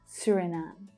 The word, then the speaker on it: Suriname: Suriname. Now, this first vowel sound is quite an uncommon one. It's the as in tour vowel sound. Suri, Suriname. And the last syllable is the stressed syllable, Suriname. Swaziland.